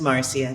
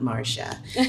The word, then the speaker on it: Marcia: The Brady Bunch and it's pronounced Marcia not Marsha anyway it's very confusing